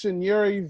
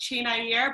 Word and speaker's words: Chinyere: I give you Miss Chinyere. That's right. How are you, Dave? It's actually pronounced Chinyere, but I'll let you slide with Chinyere.